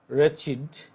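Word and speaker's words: wretched: আরেকটা রেচিড, রেচিড, রেচিড এখানে ডব্লিউ আছে, ডব্লিউ উচ্চারিত হবে না, অনুচ্চারিত থাকবে।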